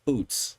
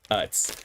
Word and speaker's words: Utz: of the Utz brand, I thought it was Oots, personally. And I was like, is it Oots or is it just literally phonetically Utz? And it looks like it's Utz.